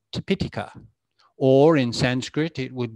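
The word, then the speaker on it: Tipiṭaka: it here so i often hear it being pronounced as tipitaka which sounds rather funny to me so using a long vowel in actual fact it's tepitika or in sanskrit it would be tripitika with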